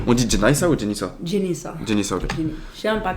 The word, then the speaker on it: Jennyssa: Jenissa, Ok. je sais même pas comment prononcer mon nom.